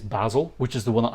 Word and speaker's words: Basel: In Swiss German, it is Basel, which is the one